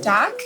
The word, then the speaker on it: Dak: you good what's your name doc doc how do you spell that d.a.k yeah so how's it going